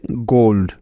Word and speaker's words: gold: তার মানে নিয়ম অনুসারে এখানে উ ভাওয়ালটির লং সাউন্ড হবে, ঠিক তো? তাহলে এই শব্দটির উচ্চারণ হবে গোল্ড, তাই না?